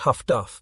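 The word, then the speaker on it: HF/DF: with ears while the highfrequency direction finders pronounced Huff Duff by picking up and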